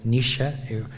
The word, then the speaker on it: Naoise: las tuyas o esta nisha que se escribe naoise pero se pronuncia nisha igual ahora hemos aprendido